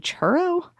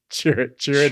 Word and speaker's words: Chirrut: it and I was like, are they saying churro? Chirrut anyway.